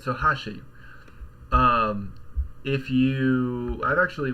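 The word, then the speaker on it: 箸: a Japanese pitch accent example one Ashi meaning chopsticks with an accent on the first Mora right so if you're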